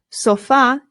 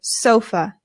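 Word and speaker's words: sofá: o and we say sofa but in Spanish the stress goes on the A and we know that because of the accent right here so it becomes el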